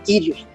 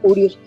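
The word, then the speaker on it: Κύριος: Sé que hay muchos puntos lo pronuncian como Kyrios, ya que la Upsilon tenía dos sonidos, una I y tenía un sonido de una U. Ya sea que usted lo pronuncia como Kyrio, lo pronuncia como Urios, la pronunciación es la misma.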